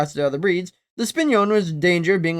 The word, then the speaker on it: Spinone: The singular is Spinone, Spinone. Huh. So this animal is actually pronounced the Spinone Italiano.